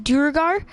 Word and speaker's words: Duergar: Like, that's actually how you pronounce it in D&D, is Duergar.